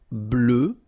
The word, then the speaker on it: bleu: Bleu, bleu. So same thing that we had for noir, you just add this E at the end, but then you don't pronounce it.